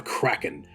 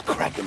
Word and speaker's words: Kraken: And I don't think it's Kraken anyways. I always heard it said Kraken. Well, with a long A?